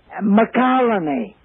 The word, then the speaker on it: McCallany: McCallany. Just like it sounds, is his second name, and nobody can spell it.